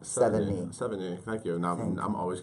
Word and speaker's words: Sevigny: I think it's the number 7 and then like knee, like your kneecap. Sevigny.